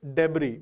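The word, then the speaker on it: debris: जो मलबा है इसका एक सिनोनिम होता है डेबरी एस जरूर आता है बट एस is silent fine so इट इज़ डेबरी डी ई बी आर आई S fine तो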